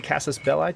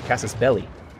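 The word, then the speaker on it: casus belli: you have gained a Cassis belli to declare a war of territorial expansion or I'm sorry Cassis belly that's a common mispronunciation you have gained a cass's belly to declare a war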